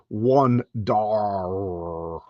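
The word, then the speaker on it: Wundarr: Like, so you got one first syllable, W-U-N, and then dar, D-A-R, and then according to those rules, you break it up. So one dar. So that's how I always said his name.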